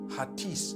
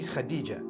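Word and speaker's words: Hatice: across the name Khadijah in Turkish some people spell it h a a t i c e I would say hatis for that no it's actually Khadijah in Turkish that's the way they write it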